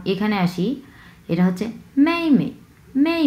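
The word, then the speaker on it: 妈妈: এর পরের অংশ দেখি এই পাশে, এটা হচ্ছে মামা মামা মামা, হ্যাঁ মামা। প্রথম অংশ এবং দ্বিতীয় অংশ দুটাই সমতল ভাবে উচ্চারণ হবে, কারণ দুটাই হচ্ছে প্রথম টোন।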